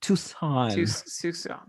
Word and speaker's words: Tucson: think the c is i think the c is silent it's like a soft c yeah it's tucson okay uh so st